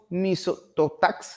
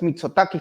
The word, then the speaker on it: Mitsotakis: caminando no junto al Primer Ministro griego kiriakos motax Espero que esté bien pronunciado Es mitsotakis perdón y cuando estuvieron transitando a 150 Met